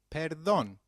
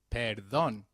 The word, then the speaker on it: perdón: me when used to beg pardon translates to para dong let's try that one more time perdón very good however for seeking someone's attention excuse